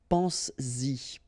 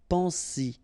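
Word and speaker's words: penses-y: to produce it orally, because you will pronounce it pense-y, pense-y, okay? Pense-y, all right? So you get to make this liaison.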